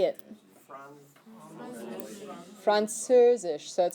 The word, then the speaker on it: Französisch: Französisch.